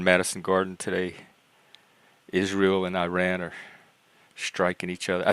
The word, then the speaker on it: Iran: correctly pronounce anounce Iran it's Iran not Iran this is from PBS